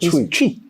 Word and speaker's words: Twi: No, it's Twi. It's not Twi. What is it? Twi. Is it CH or Twi? It's TWI. So why are you not pronouncing the T? Hey, that's how we're pronouncing it. Twi.